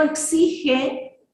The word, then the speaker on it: exige: con el gato pero cuando yo digo exige se escucha con jota se escucha como sólo